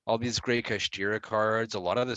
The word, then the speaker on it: Kashtira: I gotta find out how to pronounce. Speaking of Kashtira Theosis.